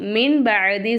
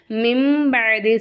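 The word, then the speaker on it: مِنْ بَعْدِ: வந்து நம்ம என்ன செய்றோம் மின்பதி சொல்லாம மிம்பதி சொல்றோம் என்ன காரணம் இங்க நமக்கு யகலாபுடைய சட்டம் வருது நூனே சாக்கினுக்கு அடுத்ததா பா வந்துச்சுன்னா நூனே சாக்கின் நம்ம என்ன செய்யணும் மீமா மாத்தி உச்சரிக்கணும் இது வந்து யகலாபுடைய சட்டம்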